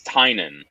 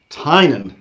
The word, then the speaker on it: Tynion: no it's the the the classic irish spelling would be more t-y-n-a-n and my family still pronounces it that way but it hasn't been